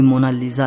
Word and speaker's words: Mona Lisa: तरफ से फ्लावर्स मिलते हैं फोन नंबर 2 मोनालिसा को इंग्लिश में मोनालिसा लिखा जाता है लेकिन इसकी सही स्पेलिंग यह है शाम को इसे मोना लिसा कहता है तो कोई मोना लीजा कहता है लेकिन इटालियन में इसकी क्रैक्ड पेंशन